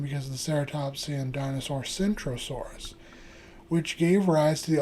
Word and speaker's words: Centrosaurus: However, not only are the names Krosaurus, Centasaurus spelled differently, they pronounced differently with Krosaurus having a kicking K. While Centaurus has a soft C pronounced more like an S.